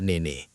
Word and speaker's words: Nene: NBC even had to spell it out on their website, noting it's pronounced " Nay-Nay" — so hosts wouldn't mispronounce it.